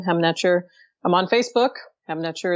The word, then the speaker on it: Hem Netjer: So yeah, please go and spell Hem Netjer, please. It's HEMNETJER. Excellent. Thank you. And again, that's pronounced Hem Netjer.